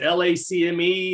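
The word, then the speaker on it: LACMA: the uh i can't is it lack me they pronounce it lacme the space i took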